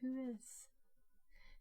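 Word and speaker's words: WHOIS: the data by a house record it is pronounced who is it's not an so look up who is records with who or other stuff so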